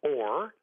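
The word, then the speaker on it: אור: with Hebrew letters, you have the word Aleph Vav Resh, which is pronounced or, which means light, in two places in the same grouping of letters.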